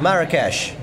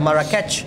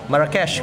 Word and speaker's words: Marrakesh: Markets of Marrakesh. Jangan dibaca Marrakech. No. Kenapa, Sir? Karena nama kota biasanya ya tergantung kotanya gimana maunya disebut. Kayak Machu Picchu nggak kita bilang Machu Picchu kan? Marrakesh kalau di sana bacanya.